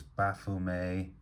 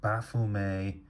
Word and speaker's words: Baphomet: in the pronunciation here, Baphomet is correct. Baphomet is also correct. It's both are absolutely fine, and that's one of the points that Michael makes from the outset of the book, really, is that either of those pronunciations are fine.